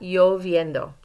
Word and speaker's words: lloviendo: So you want to make sure you pronounce that y. I shouldn't hear any L sounds in there. So está lloviendo.